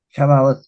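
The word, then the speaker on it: Shabbat: hebreo chatón o gran chabat Cómo se dice shabot shabot Sí muy bien el día shabot el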